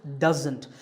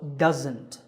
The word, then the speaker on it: doesn't: of that it's pronounced doesn't there's a z sound there it's not an s sound so doesn't here's a quick exercise